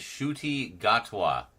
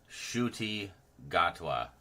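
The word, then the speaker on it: Ncuti Gatwa: But uh don't actually know his his name is Shy Gatwa. Shuty Gatwa. That is how you pronounce it.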